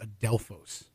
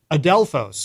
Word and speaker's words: Adelphos: So the pronunciation of the song is called Adelphos. Adelphos.